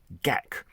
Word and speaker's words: Gakk: How do you pronounce my surname, Gakk? Just imagine you have a dense fur ball stuck down your throat and need to expel it with a mighty hacking cough. Gakk, so my grandparents advised